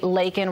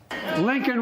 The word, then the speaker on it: Laken: forced him to say lakan Riley's name and then like you said he mispronounced it saying Lincoln instead let's listen Lincoln Riley an innocent young